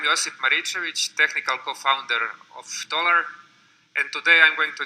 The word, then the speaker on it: Tolar: Oh, it's like dollar. Okay, Yeah. cool. So the green one. Okay. Stage is yours. Thank you. Hi, I'm Josip Maricevic, technical co-founder of Tolar, and today I'm going